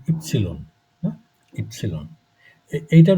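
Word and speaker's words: Ypsilon: আর এরপরে হচ্ছে ইপসিলন। আপনারা এটাকে ওয়াই বলেন, এটাকে জার্মানে বলে ইপসিলন।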